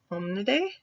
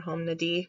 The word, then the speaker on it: Hominidae: So we are in the family Hominidae or Hominidae. I think Hominidae is the correct way to pronounce it, but you'll hear me and quite a few others say Hominidae quite often.